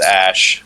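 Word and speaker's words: Æ: The AE symbol is pronounced Ash or whatever.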